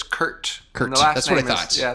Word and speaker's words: Kurt: you so much for is it Curt or Kirk it's Curt Curt that's what God's yeah the last name is pronounced hurt the